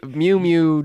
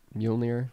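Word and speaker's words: Mjölnir: The first 2 seconds of the trailer, his Mew Mew blows up.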